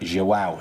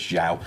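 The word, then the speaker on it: João: getting a lot of stick for saying it xow is how it's actually pronounced rather than Lucas Xiao um so yeah but if you want to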